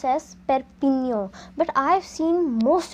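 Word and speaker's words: Perpignan: i g n a n so it is pronounced as perpigno but I have seen most of the people pronouncing it wrong as per Pig noun and that is totally wrong you need to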